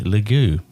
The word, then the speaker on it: Lague: my intention to interview Richie lagoo correct pronunciation that is yeah thanks Paul yeah